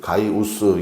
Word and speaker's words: 가이우스: 첫 번째 나오는 사람이 가이오인데 이제 가이우스 이게 정확한 발음이겠죠.